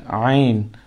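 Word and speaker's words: عين: সুতরাং এটার নাম হচ্ছে আইন আইন হলকের মধ্যখান থেকে আমরা আমাদের যে এখান থেকে আমাদের আওয়াজ বাহির হয় সেখানে একটু চেপে আমরা উচ্চারণ করবো হার মতো হা আইন হা আইন মাখরাজ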